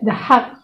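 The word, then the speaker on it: The Hague: Alaska all over the Philippines yung na-hack the the hack the hack the hag in English sabi Yun yung isang Dutch Filipino.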